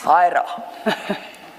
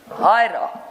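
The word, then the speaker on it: Huayra: Hyra. Sorry, ma'am? Hyra. Oh, okay. I dare not pronounce it back.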